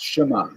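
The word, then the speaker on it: Shema: word sha right sh you don't say sh you know say shma it's shma it's a little bit of a gap in there so he counted do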